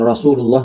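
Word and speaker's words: رسول الله: Bagaimana tadi cara pengucapan Rasulullah biar enggak jadi shad? Senyum rasu bukan rasu itu shad rasulullah ya rasulullahi naqatallahi wasuqyaha begitu ya.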